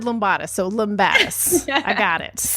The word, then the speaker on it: Lumbatis: It's Lombatus. Okay. See, I was so close. I said Lombatus. So, Lombatus.